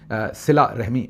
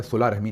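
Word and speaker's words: صلہ رحمی: तो उसमें किसी ने सिला रहमी मुझे कहा था, सुला रहमी नहीं सिला रहमी कहिए, ये आप दुरुस्त कह रहे हैं।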